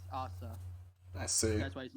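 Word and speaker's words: アーサー: not Japanese nice yeah the Japanese they don't know any RS or th So when you say it in Japanese it's ASA I see that's why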